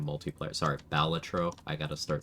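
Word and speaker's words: Balatro: Oh, Chris, I was made aware of the existence of a Batro multiplayer. Sorry, Baltatro.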